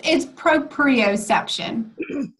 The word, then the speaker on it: proprioception: What is the right? It's proprioception. Yeah, I had one last I think syllable in there.